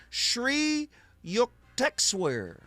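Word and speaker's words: Sri Yukteswar: Shri Yuktexwear. Say that name with me. Shri Yuker. Yeah, that's exactly how you say it.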